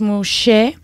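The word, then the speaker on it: muxe: So Nemuje, pronounced Muse, es un término zapoteca que hace referencia al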